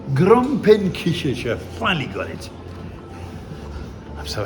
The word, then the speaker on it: Gromperekichelcher: I found the comment ça se prononce? Gromperekichelcher. Gromperekichelcher.